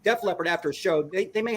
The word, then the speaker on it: Def Leppard: Leppard after after a Death Leopard I said it wrong Def Leppard after a show they